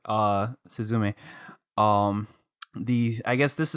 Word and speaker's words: Suzume: to talk about suzumi oh so yeah on the last syllable Susan me um it's